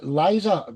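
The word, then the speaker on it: Lise: So coming up next is Liza. She say Lisa, but it's spelled L I S E Edwards from Norway.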